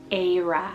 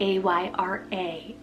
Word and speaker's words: Ayra: I have Ayra, spelled A-Y-R-A, Ayra, super unique.